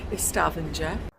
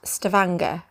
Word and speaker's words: Stavanger: our first protocol which is Norway or since Stavanger which we think is pronounced Stavanger and we are very close to the town